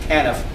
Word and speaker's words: TANF: The current system is called Temporary Assistance to Needy Family, the abbreviation of which is TANF, usually pronounced TANF.